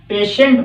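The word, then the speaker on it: patient: द पेशेंट had died, पेशेंट की spelling याद रखने के लिए इसको पेटिएंट बोलना पड़ेगा, पेटेंट, पेशेंट हो जाएगा, सही उच्चारण इसका पेशेंट होता है, लेकिन यह स्पेलिंग याद रखने के लिए PATI, पेटिएंट या पार्टीएंट, पेशेंट।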